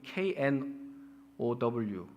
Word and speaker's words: know: 그 G가 지금 다 묵음 처리가 돼가지고 지금 KNOW 이렇게 하면 K 발음 안 하죠. 아무도 큰 O라고 안 하죠. 그냥 know, knowledge 이렇게 말하는 것이고요.